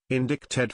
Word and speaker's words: indicted: drop out with a get as a non-native indicted felt more natural thanks I hate the English